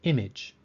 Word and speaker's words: image: short o or a the fifth word is image the a in image sounds like a short I sound or I the sixth word is